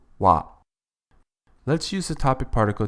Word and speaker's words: は: It is written as ha but is pronounced wa.